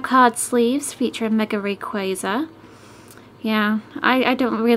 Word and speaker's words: Rayquaza: booster packs 65 card sleep Lees featureing mega Rayquaza yeah I I don't really like saying Rayquaza but that's how it's pronounced I wish they really did call it